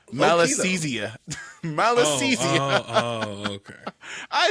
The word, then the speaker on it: Malassezia: the middle of it, the first syllable being mal, literally meaning bad or evil.